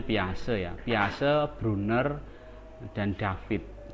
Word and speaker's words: Piaget: Ini bacanya Piaget ya.